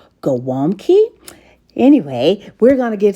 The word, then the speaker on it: gołąbki: Today we're in the kitchen making some cabbage rolls, which is a Polish dish normally pronounced gaw-WOOMB-kee.